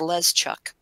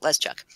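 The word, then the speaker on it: Leszczuk: be looking at that go and that's not pronounceable it's less chuk chuk l es c zc u ck let's chuck a local local last name several several around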